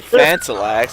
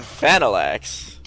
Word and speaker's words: Phanalax: I didn't say Phantalax. I said Phanalax.